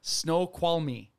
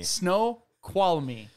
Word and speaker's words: Snoqualmie: Snoqualmie. It's Snoqualmie National Forest. It's spelled Snoqualmie.